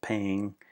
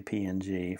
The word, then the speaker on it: PNG: lot is PNG files some people pronounce that ping but I usually just say PNG for portable Network graphics